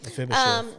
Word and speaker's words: Mephibosheth: Mephibosheth.